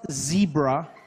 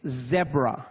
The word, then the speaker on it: zebra: from now on please it's not zebra okay it's zebra just like it's not